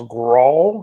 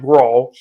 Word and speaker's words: Grahl: I believe his last name is pronounced Grahl. So I'm not sure if that's exactly right, but, but Tim Grahl.